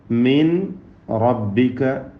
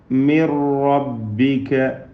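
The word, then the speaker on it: مِنْ رَبِّكَ: റാഇൻ്റെ ഉദാഹരണം മിൻ റബ്ബിക ഓതേണ്ടത് മിർ റബ്ബിക, മിർ റബ്ബിക.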